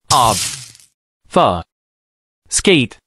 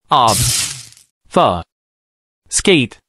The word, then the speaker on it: obfuscate: let's begin with the verb obfuscate if someone obfuscates they deliberately make something unclear or difficult to understand now let's break down its pronunciation OB F skate repeat after me OB F skate Bravo you're succinctly pronouncing obfuscate keep it up